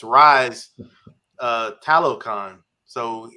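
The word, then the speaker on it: Talokan: how they it's the right it's rise uh talocon so it's pretty much he's telling his City his people to rise up so it's like Hollow kind yeah it's how it's pronounced but yeah so now did you hear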